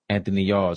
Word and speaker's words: Anthony Yard: Mexican monster will fight November 22nd against how you pronounce the guy's name. Better be Anthony Yard. Y A R D. Anthony Yard.